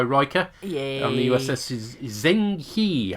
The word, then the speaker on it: Zheng He: and the uss is zheng he i think you pronounce it as but i'm probably murdering it because hey he's uh